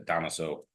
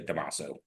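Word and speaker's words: Dámaso: cigar is named after, which most people say Damaso. Damaso. Yeah, that's kind of how it's pronounced Damaso. I've always, even in Spanish, I pronounce it Damaso. Yeah, well, it's fine, but he puts the accent mark on. No, that's fine. Yeah, that's the technical pronunciation.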